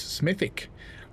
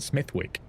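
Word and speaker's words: Smethwick: Production says, "Just for the record, the W is silent. Smithic." I have actually heard both though from locals smithic and smithwick.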